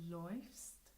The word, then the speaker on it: läufst: They add an umlaut over the A, which makes the pronunciation different. So, laufen meaning to run. Ich laufe, du läufst, läuft, wir laufen, ihr lauft, sie laufen.